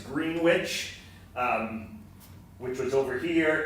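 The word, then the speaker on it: Greenwich: of one another one in the town of green witch which that's how they pronounced it green witch I learned that the hard way when I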